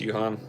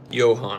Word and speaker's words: Johan: Thanks, Yuan. Johan. I said Yuan.